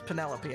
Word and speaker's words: Penelope: Penelope? Penelope. Officially, yes, but I never can be bothered with all 4 syllables of it.